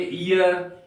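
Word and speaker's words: heir: हम लोग एन यर एच ई आई आर हियर कभी नहीं पढ़ेंगे हम लोग इसको पढ़ेंगे यर यहां पर एक साइलेंट है का अर्थ होता है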